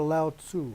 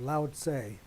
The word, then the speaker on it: Lao Tzu: First off, we'll go to Lao Tzu, or Lao Tse, depending on how you want to pronounce it.